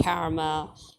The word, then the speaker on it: karma: know of karma which those who don't know how to say the word usually call it karma yeah it's not Karma please it's karma okay um it's from Karam which is actually uh a Hindi word or and also Punjabi word by